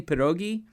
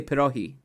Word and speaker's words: pierogi: takes me back i i pronounced it actually wrong for the slavic way i've been saying pierogi but my grandma would always say pirohi she would not say it with a g a hard g um so thank you